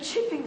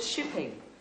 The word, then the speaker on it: Chipping: spell it yes oh chipping sir i thought you said shipping chipping as in chips yes sir it